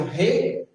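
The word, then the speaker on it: ר: E como que a gente pronuncia re, não é na garganta, é soprando.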